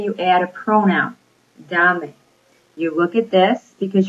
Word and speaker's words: dame: Let's say you add a pronoun, dame. You look at this because you're adding a syllable, so you're adding another syllable, so where do you stress your voice?